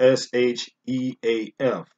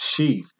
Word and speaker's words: sheaf: It's spelled S-H-E-A-F. Now, on that note, I had to correct myself because, first of all, it's pronounced sheaf.